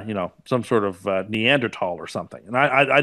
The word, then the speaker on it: Neanderthal: I don't believe that say that word again neanderthal is that how we're pronouncing it now yeah that's how it's pronounced really we've got to be no from behind the camera there I know but that is now the proper pronunciation believe it or not they changed the pronunciation yeah I don't know why or how but that did change master did this yeah